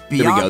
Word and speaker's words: Bianca: Bianca there we go. Rhymes with Willy Wonka. Willy Wonka rhymes with Tonka.